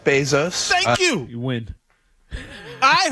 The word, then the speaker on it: Bezos: you get get it you pronounce his name by the way basos hello my name is Jeff Bezos thank you you win